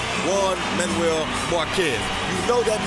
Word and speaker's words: Juan: you hear the name Juan Manuel Marquez you know that means trouble as soon as the jpar comes out although it's pronounced with the w as in one you know when you